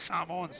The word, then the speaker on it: Samoa: You guys must have heaps of Samoans living in Australia, but just say Samoa.